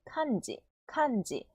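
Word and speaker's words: 漢字: 니은, 미음, 이응이 전부 다 합쳐진 발음. 사응마, 삼마, 삼마. 그리고 한자는 카은지, 칸지.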